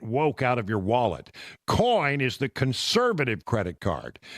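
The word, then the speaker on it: Coign: coin c i GN the g is silent but it's it's in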